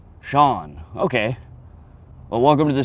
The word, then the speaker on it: Sean: Good also have weird spelled name, it's pronounced Sean.